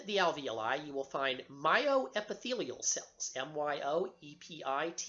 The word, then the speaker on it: myoepithelial: a pocket within the alveoli you will find myoepithelial cells my oep i th e li al